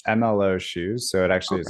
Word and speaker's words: MLO: have asked that yeah no you're fine it's mlo shoes so it actually is an acronym that stands for move lead overcome got it I almost pronounced it low and I'm like I don't think that's right